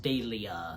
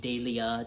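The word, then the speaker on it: Delia: her name is pronounced daia so you know it's like you know you say Julia but with a d daia just you know you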